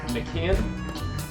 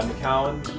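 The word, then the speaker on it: McKeown: a book called the oxygen advantage by Patrick McCann if I'm pronouncing his name correctly you can yeah McCowan and so the video that we're going to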